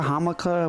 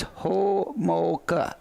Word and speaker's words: Homolka: Texas I called melica hamica whatever so he said it's ho mocha I got it all